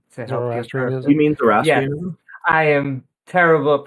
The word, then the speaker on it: Zoroastrianism: You mean Zoroastrianism? Yes, I am terrible at pronunciation. Zoroastrianism.